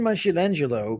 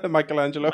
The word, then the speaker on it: Michelangelo: right you know even my shill Angelo couldn't have sculpted such a beautiful do you want to try to pronounciation that again Michelangelo Michelangelo there you go now my challenge